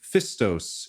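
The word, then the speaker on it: Phistos: It is PH parentheses F, Istos. All right. Fistos. So just the pH is the surprising part.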